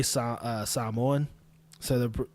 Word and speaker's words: Samoan: But anyway, when I say Samoan, so the when you say Samoa or Samoan, when I say it properly, which is how I'm saying it now, Samoans or Samoans.